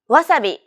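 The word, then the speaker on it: わさび: language like English so instead of stressing the second syllable like Wasabi make it even throughout try again wasabi wasabi nearly all sounds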